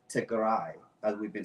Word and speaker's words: Tigray: So for those of you who are not sure the pronunciation, it's Tigray, as we've been saying.